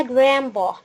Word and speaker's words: grandpa: يعني الجراند بيرنتس هم فردين، يا إما جراندما يا إما جراندبا. خدت بالك إن أنا هنا الدي ما وضحتش نطقها، الدي هنا ما وضحناش نطقه.